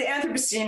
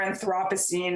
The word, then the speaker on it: Anthropocene: for me yeah yeah so the anthropocene or anthropocene or people pronounce it differently they pronounce it on different different land different sides of the atlantic um is the eye